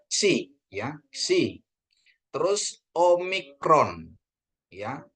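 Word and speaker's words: ξι: Terus ada ni, ya, ni, ksi. Nah, ini ksi, ya. Jadi KS, ya, KS, ksi, ya, Bapak Ibu, ya, ksi. Nah, ksi, ya. Jadi disebutnya penekanannya di K itu harus kedengaran K-nya, KS-nya. Jadi bacanya ksi, ya, ksi.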